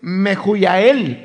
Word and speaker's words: Mehujael: en el caso de Mehujael. Esa es la pronunciación en griego. Pero si usted la ve en la Reina Valera, está escrito con H's. Y usted sabe que en español la H es muda.